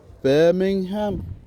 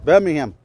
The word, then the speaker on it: Birmingham: They say um it's called um Birmingham Birmingham. That's how the locals pronounce it. Birmingham.